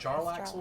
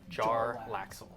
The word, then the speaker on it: Jarlaxle: And is it That's what it pronounced looks Jarlaxle or Jalaxle? Jarlaxle.